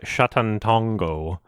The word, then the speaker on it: Sátántangó: so spoilers for uh shatantongo uh is how the director pronounced it sorry because i'm scared